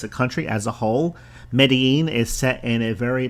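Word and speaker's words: Medellín: right number three medine it's spelled me e d e l l i n I guess if you just spelled or pronounced it phonetically it would sound like medelin but with the accent it's medine it's also known as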